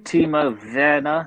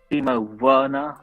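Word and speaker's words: Timo Werner: yeah yeah yeah yeah i tried to say all the pronunciations as they said like teemo verna not emo werner yeah the germans pronounced that w as a v yep yeah so yeah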